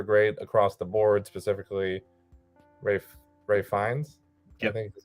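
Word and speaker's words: Ralph Fiennes: I mean, the performances are great across the board, specifically Ray Fiennes. Yep. I think is how he pronounces his name.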